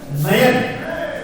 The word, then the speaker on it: नयन: जैसे मैंने बोला नयन, नयन, अगर आप नयन शब्द का उच्चारण करोगे तो आप स्वतः ही पाएंगे कि नयन बोलते समय नई आई का उच्चारण बीच में हो रहा है, नयन नई नयन, ठीक है।